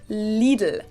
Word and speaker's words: Lidl: but i think it helps to know that both of the l sounds are light else that you pronounce with the top of your tongue so it's lidl like dreidel but no not sound like dreidel but it's like little lethal little little did